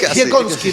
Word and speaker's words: Dziekonski: Y para eso tenemos un invitado súper interesante hoy, Diego Jekowski. Dime si pronuncio bien después tu apellido, ¿no? Está bien, perfecto. Casi. Jekowski, pero es de origen polaco, ¿no?